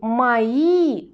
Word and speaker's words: мои: обратите внимание на произношение когда мы говорим мои мы тянем букву и и ударение у нас на и мои повторите за мной